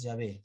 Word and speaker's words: Yahvé: Pero de todas maneras, si hubiera sido inglés, nombre inglés, hay una tilde ahí. No se puede dejar de lado esa tilde.